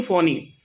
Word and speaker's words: Fani: For example cyclone फोनी, it's called फोनी. Name is given by Bangladesh cyclone, लेकिन नाम देखो FANI. उसको बहुत कोई फानी बोलता था, लेकिन उसका मेन क्या है, साइक्लोन फोनी.